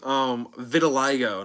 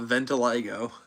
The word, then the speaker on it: vitiligo: Vitiligo, not Ventiligo.